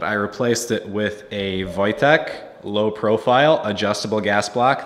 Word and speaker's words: Wojtek: video one other thing regarding the gas block Wojtek is in fact the correct pronunciation for that part flight tech the soldier